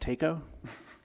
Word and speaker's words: Taco: but what is a taco pump council mayor that is actually pronounced Tico the name of the company that's what they call themselves as tako so thank you it